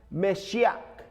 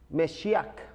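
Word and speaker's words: מָשִׁיחַ: estar mirando ahí eso la palabra mesías viene del hebreo que se pronuncia mexiac mexiac y la palabra cristo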